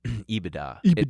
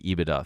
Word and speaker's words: EBITDA: i didn't know that's how you say it ebitda it stands for earnings before interest taxes i